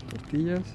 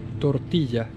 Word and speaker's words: tortilla: Let's get this for fajitas, tortillas. This is pronounced tortilla, not tortilla.